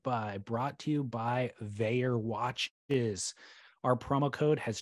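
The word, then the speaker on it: Vaer: Tools to Live By, brought to you by Veyer Watches.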